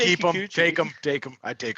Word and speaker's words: Kikuchi: UC Kakachina just butchered the name. That was brutal. Practiced that before the show. Didn't say it for the past 40 minutes. So isn't it you say Kikuchi?